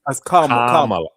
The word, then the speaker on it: Kamala: I mean, her name is Kamala. It's not Kamala. It's Kamala. Kamala.